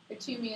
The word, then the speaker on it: Kuthumi: Katumi is spelled Kuthumi.